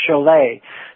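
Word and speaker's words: Chollet: o l l e t and it was pronounced cholet so saying jolet was probably more uh on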